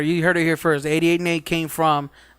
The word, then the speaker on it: 88N8: So I was like, no, N8. N8 makes Nate.